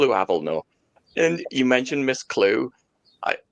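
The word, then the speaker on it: Klugh: So they spelled it K L U G H. It's like we're going to call her Miss Clue, but we'll spell it differently.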